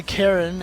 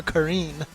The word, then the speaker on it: Karin: right way to pronounce I still say Karen and in the game they call her Karine I say I call